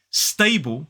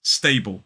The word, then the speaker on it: stable: Instagram the other day stable sounds more like da with a s in front of it stable and you can even